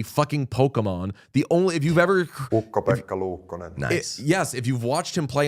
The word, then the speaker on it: Ukko-Pekka Luukkonen: You know that it is pronounced... Ukko-Pekka Luukkonen. Ukko-Pekka Luukkonen.